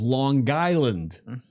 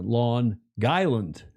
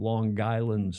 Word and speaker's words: Long Island: The they pronounce it lawn lawn like your front lawn, l a w lawn guy island. The G goes on the second word.